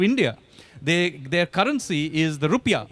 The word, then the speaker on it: rupiah: their currency is the rupiah which is actually the correct pronunciation more than ours airline airlines as Garuda